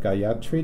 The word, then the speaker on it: Gayatri: And we have Gayatri, did I pronounce it correctly?